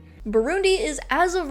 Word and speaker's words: Burundi: In English, it is normally pronounced as Burundi. Burundi is, as of right